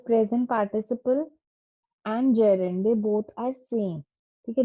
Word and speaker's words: gerund: The pronunciation is gerund. Gerund is wrong.